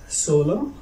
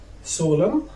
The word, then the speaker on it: solemn: Cylinder N, you cannot pronounce it after M at the end of the word. في كلمات كتيرة لكن لازم تردد معايا عشان تحصل الإفادة الكاملة. كلمات كتيرة مثلا زي كلمة solemn, solemn, solemn, ومثلا زي كلمة